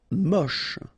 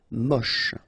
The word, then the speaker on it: moche: Moche. Don't insist on the final E, then you get the last sound is sh. Moche.